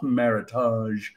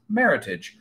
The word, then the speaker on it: Meritage: wine maker portmanteau and it's actually a combination of the word merit and heritage and is pronounced Meritage so a Meritage from